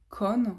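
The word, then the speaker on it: Kon: Euh c'est euh Véronique Con, j'espère qu'on le prononce bien, K O N.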